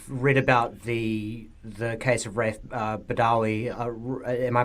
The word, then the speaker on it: Raif Badawi: Yeah, well, I've read about the case of Raif Badawi. Am I pronouncing that correctly, Raif?